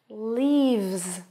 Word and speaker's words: leaves: Then we have leaves. And this time it's a Z sound.